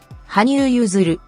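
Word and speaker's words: 羽生結弦: It's read as Hanyu Yuzuru. However, in Chinese, the same characters will be read as Yu Shen Jie Xian.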